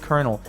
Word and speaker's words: colonel: much more sense like why the heck is it pronounced kernel and spelled Colin L it's the dumbest dog